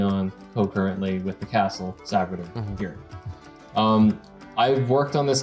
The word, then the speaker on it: Savguder: We're going to be looking at his epic castle Savguder. Is that how it's pronounced?